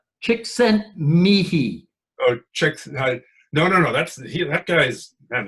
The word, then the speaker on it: Csikszentmihalyi: Csikszentmihalyi. Oh, no. That guy's, man. Is he Czech or something? But yeah. Csikszentmihalyi. So that's only because I learned it's a chick and she sent me high.